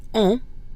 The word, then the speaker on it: on: The word on, O-N, is also nasal.